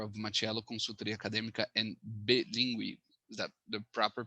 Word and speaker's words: BELíngue: He's also the founder of Mattiello Consultoria Acadêmica and BELíngue. Is that the proper pronunciation? You go for it. BELíngue. BELíngue, thank you.